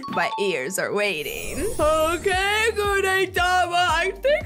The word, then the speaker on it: Gudetama: His name rhymes with Uheyama. Because, family, his name is Gudetama.